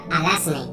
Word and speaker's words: Alazne: Comienzo con mi querida Arazne Clave, que para los que no lo sepáis, se pronuncia Arazne, con S.